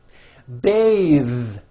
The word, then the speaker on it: bathe: but it's voiced smooth bathe the word bath is a noun with an unvoiced th beth but when you change it into a verb to bathe the vowel changes to an a sound and the th is